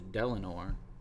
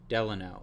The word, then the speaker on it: Delano: Delano it's not delanor I thought it was delinor let me look that up I'm not gonna